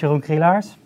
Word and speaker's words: Jeroen Krielaars: internet magician prison before so my name is yogge hey Lars nobody here can pronounce it but they do the best I'm